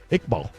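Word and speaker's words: Iqbal: How would you pronounce that? Ickball.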